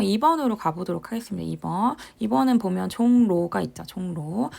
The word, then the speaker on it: 종로: 2번은 보면 종로가 있죠. 종로. 근데 얘가 발음이 될 때 종로라고 됩니다. 그래서 보면 리을이 무엇으로 바뀌었죠? 리을이 니은으로 바뀌었습니다.